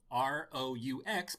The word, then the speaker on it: roux: Fact, this kind of sauce is spelled R-O-U-X, but is pronounced roux. It rhymes with do, as in do not make any plans later.